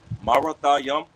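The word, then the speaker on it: Merathaim: All right, and when you go into Marathiam in the Hebrew in the blue letter, okay, it's literally pronounced just as that, Marathiam, and it means what?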